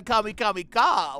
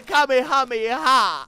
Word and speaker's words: Kamehameha: that's a crystal ball you're gonna cast a kamikamika what the hell is that oh Omar would